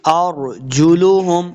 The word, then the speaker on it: أَرْجُلُهُمْ: وَتَشْهَدُ أَرْجُلُهُمْ، اور را کو پر پڑھیں گے.